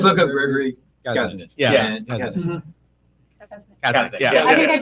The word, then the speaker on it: Kasunich: Kazanich. Kazanich, Yeah. I think I just learned this year I how think- to pronounce Yeah.